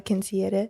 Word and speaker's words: quinceañera: Your sister had a quinceañera. My sister had her quinceañera, yeah. If you can't roll your R's, you can't say it.